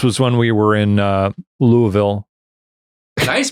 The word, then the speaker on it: Louisville: This was when we were in Louisville. Nice pronunciation. Is there? Because I think I usually go with a Louisville. Well, you Or you just go straight Louisville. Louisville.